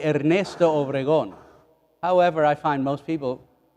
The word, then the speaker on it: Ernesto Obregon: Actually, if you want to pronounce it correctly, El Padre Ernesto Obregon.